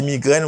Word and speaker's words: migraine: Ça veut dire chaque lors rivé là, vous passez un petit quoi en bas E parce que E a pas prononcé. Vous dites migraine.